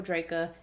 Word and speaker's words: Drejka: the case of michael draca and if i say dredge at any point in this uh video just know that it's because his name is spelled like it's drejka and not draco if y'all knew about